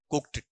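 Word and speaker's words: cooked: उच्चारण भी सुन लेना कुक्ड ड नहीं है साउंड क्या है ट आएगा कुक्ड बनेगा या कुक्ड बनेगा कुक्ड ट ट साउंड बोलेंगे फनेटिक में काम आएगा आपके फिर यहां पर आगे आगे डिलीशियस है।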